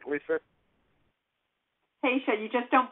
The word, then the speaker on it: Haisha: lisa hey am i saying that right lisa tasha you just don't pronounce the eye okay uh on with us